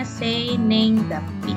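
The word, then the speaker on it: 生年月日: Ini dibacanya seinenggapi.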